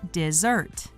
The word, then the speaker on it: desert: It is pronounced differently than desert as a noun. The verb desert is pronounced dih-zurt.